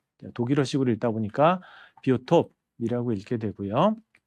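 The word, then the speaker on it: Biotop: 자, 이 비오톱은 독일에서 만들어진 개념이어서 약간 발음이 좀 틀려요. 영어식으로 읽다 보면 바이오죠. 바이오라고 읽을 거고요. 톱은 토폴로지, 토포스, 이제 공간, 위상학을 얘기를 하고요. 생물학적 공간을 나타내는 개념이 바로 비오톱입니다.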